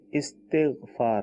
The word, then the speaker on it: استغفار: یہ صحیح تلفظ ہے استغفار، ٹھیک ہے، الف کے نیچے زیر ہے، استغفار، ٹھیک ہے، لیکن